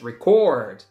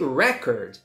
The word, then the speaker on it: record: last syllable is stressed if you make a video you are recording so the final syllable is stress record if it's a noun it's a record for example oh he